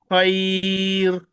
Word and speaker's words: خير: Now, the third case, when raw sakina followed by ya sakina followed by fatha. In this case, raw will be pronounced as thin because after soft ya, Ra will not be pronounced thickly, just like khair, خير khair, خير خير